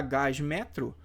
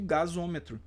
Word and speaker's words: gasômetro: Então, ao invés de ficar gasmetro, eu pronuncio gasômetro.